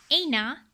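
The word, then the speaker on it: عين: Same like how they said, ouch and aina. Right, the letter ain comes out from your throat.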